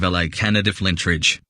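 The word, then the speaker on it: La Cañada Flintridge: Another curious postal code and name is that of LA Canada Flintridge, pronounced more like Kenyatta.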